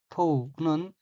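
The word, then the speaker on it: 問う: 다음 어휘는 한자가 물을 문자이고 일본어로는 토우라고 읽으며 토우는 묻다, 물어보다 밝혀 따지다 라는 뜻의 타동사입니다.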